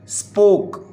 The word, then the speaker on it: spoke: फिर उसके बाद बेटा जी वर्ड है स्पोक, SPOKE, स्पोक। इसमें भी आप देखेंगे तो हम लास्ट में जो ई साउंड है, ई लेटर है, वो हम प्रोनाउंस नहीं कर रहे, इट्स जस्ट स्पोक।